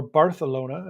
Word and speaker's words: Barcelona: Tony Diaz heading to Barcelona tomorrow night, or Barcelona, as it's supposed to be pronounced, which I hate.